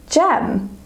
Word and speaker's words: gem: So for example, we have here the word gem. Gem has the J sound at the start of the word. However, it is spelled with a G.